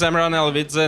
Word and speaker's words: Amiran Alavidze: that's gone uh good afternoon my name is amaran alvidza nobody can pronounce that as uh you might imagine so